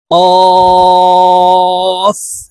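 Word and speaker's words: كاف: উচ্চারণ করব ফা ফা কফ কফ হরফের উচ্চারণ জিহ্বার গোড়া তার বরাবর উপরের তালুর সঙ্গে লাগাইয়া উচ্চারণ করব কফ কাফ আর এই কাফ হরফের উচ্চারণ জিহ্বার গোড়া থেকে একটু আগে বাড়িয়ে উচ্চারণ করব কাফ কাফ লাম লাম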